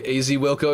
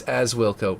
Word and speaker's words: Wilco: But if not, if you don't care, then I'll just I'll end up with a AZ Wilco exclusive. Oh, it's as Wilco, right?